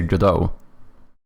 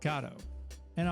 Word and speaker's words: Godot: Yeah, I I go with the second one. I say godau. Godote, and the one that I used, G. And I'll add a quick disclaimer here. However you want to pronounce it, it's except for GA. That's just wrong.